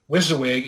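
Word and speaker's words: WYSIWYG: the rule book um wizawig is spelled w-y-s-i-w-y-g and it's it's talked about quite often in the Flames of worse circles it literally stands for what you see is what you get it basically settles almost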